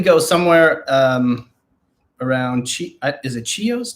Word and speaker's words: Chios: Yeah, we probably go somewhere around is it Chios? Chios, is that how you pronounce it?